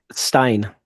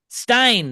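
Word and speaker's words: Stijn: Um, oh, how did I how do I pronounce this guy's name? I I sent it to you. Stein. Stein.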